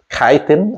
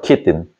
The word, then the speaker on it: chitin: So the fungi cell wall made of material is called chitin or chitin. C-H-I-T-I-N. How you say it? Chitin? I've heard it both ways.